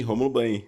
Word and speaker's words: Rômulo Banhe: É assim que pronuncia? É sim, Rômulo Banhe, exatamente.